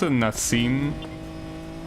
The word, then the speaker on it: Nassim: It's pronounced Nassim. But yeah, they wrote it in the subtitles different, with only one S.